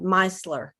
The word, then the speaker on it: micellar: mary kay video and she called it meisler mice like the like a mice like a mouse but mice lure okay so micellar water